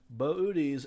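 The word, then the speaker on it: Boötes: so first of all what is booties booties and it is pronounced that way is this constellation right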